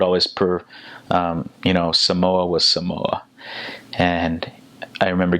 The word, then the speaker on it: Samoa: And my uncles and dads like, "It's not Samoa, it's Samoa."